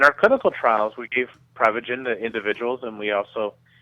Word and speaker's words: Prevagen: So, remind us what exactly is prevagen? Well, technically it's pronounced Prevagen, but what Prevagen is is a